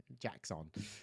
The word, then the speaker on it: Jaxxon: It was Jackson. I know it's spelled Jaxxon. Jackson.